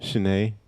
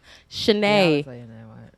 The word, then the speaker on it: Shané: There's an accent mark above the E. It makes the nay sound in my name.